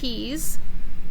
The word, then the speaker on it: he's: This is he's. And you hear how it has a Z sound at the end? He's.